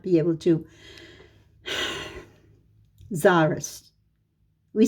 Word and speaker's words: Tsarist: The Tsarist regime felt no such compunction. Tsarist, it means Russia. I realize my audience might not be able to. Tsarist. We say Tsarist. It's spelled C-Z-A-R-I-S-T sometimes, and sometimes it's spelled T-S-A-R, Tsar, I-S-T.